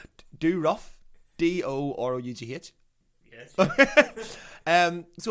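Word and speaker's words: Dorough: and one of their members i'm gonna definitely pronounce this wrong shoei he is do rough d-o-r-o-u-g hitch yes um so apparently when they're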